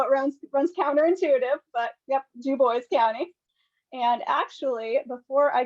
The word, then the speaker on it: Dubois: I know it runs counterintuitive, but yep, Dubois County.